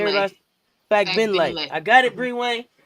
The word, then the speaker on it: Fagbenle: Timmy Fagbenle, a center from Indiana Fever. Kate Martin. Let me practice that. Say it again because I said it wrong for Bree Wayne. Say it Fagbenle.